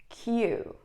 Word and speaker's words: queue: yeah English is weird why do you have five or six letters if you're gonna read just one it is Q Q means line when